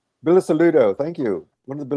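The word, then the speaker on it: Bilusaludo: We want to try to pronounce that. Bisudo. Bilis Saludo.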